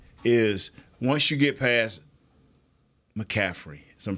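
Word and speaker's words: McCaffrey: of people think is once you get past mcaffrey is I'm pronouncing that right yes don't y'all think that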